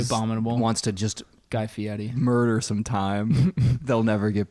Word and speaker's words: Fieri: thing about about him actually pronounced a Guy Fieri but it's spelled Fieri yeah yeah he's a